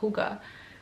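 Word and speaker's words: hygge: I got the little book of, I always want to say Hig, but supposedly it's pronounced Huga. But so I got the little book of Huga by who?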